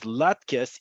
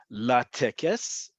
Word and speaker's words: latkes: So to ensure that you pronounce this as latkes, even in modern Hebrew in Israel, you'll see it spelled like this in row 22.